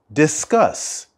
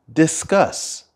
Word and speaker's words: discuss: take on a preposition the stress of the word discuss is at the end discuss discuss well I can't discuss